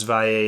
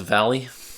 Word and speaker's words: Valle: Alex Valle is going to be there. And so... Oh, Alex Valley? No. Oh. That's not how it's pronounced.